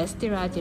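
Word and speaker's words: Eszterházy: 드디어 이 케이크 이름 을 어떻게 발음 하는지 알게 됐어 요 . 그곳 을 에스테르 하지 라고 부릅니다 .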